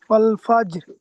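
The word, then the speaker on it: والفجر: ফাজর ওয়াল ফাজর হুম ওয়াও জবর ও লাম জবর লা ওলা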